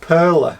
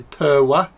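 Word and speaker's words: Perła: it for you now it's called Perler I think it's pronounced actually perwa because it's uh it's polish and it's that L with the with the line through it and it's uh it's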